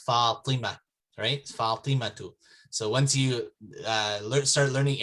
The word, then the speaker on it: Fatima: is coming over but it's actually not fatima it's falima so once you start